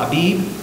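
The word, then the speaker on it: אביב: And they probably, a lot of times, will pronounce the V with a B, so you don't know, Abib, you know?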